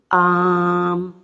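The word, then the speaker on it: آم: यह mango fruit है इसको कैसे आम अब हमने थोड़ा खीचा ना आम तो यह आवाज य हमें समझ आ गया कि आवाज खींच खींचना होगा तो मत लगा देंगे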